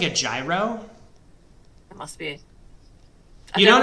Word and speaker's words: gyro: So a gyro, or or hero, if you pronounce it in like the Greek way.